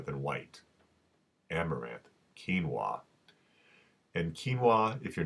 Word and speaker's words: quinoa: brown rice rather than white amaranth quinoa and quinoa if you're not familiar with it it's spelled qu i n o a and it's